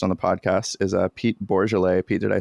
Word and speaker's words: Bourgelais: For our first recorded guest on the podcast is Pete Bourgelais.